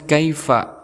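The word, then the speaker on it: كَيْفَ: setelah itu ada kalimat Kaifa ada Ya Sukun sebelumnya berharakat fathah maka kita hukumnya sebagai ya huruf layyin setelah itu Fa di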